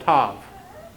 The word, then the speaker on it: Tav: There's a word that means sign, next one, and it is also called Tav, the way it's pronounced.